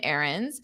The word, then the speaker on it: errands: Remember, this is the context of chores and errands. So you run errands. Errand is a noun. Now, notice how I don't pronounce that D. Errands, errands. It's just a dropped sound.